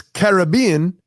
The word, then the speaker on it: Caribbean: was telling me it's it's Caribbean officially pronunciation wise because of the carob Indians is really where that region got its name from the Carib Indians I guess the the